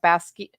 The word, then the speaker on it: Basgiath: So I started off not knowing how to pronounce this until I actually started looking for stuff, and I was pronouncing it like everybody else, Basgiath.